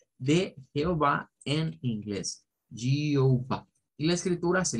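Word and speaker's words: Jehovah: IPN nos dice que esta J se pronuncia con un sonido que es como el sonido un poco vibrante y luego Esta debe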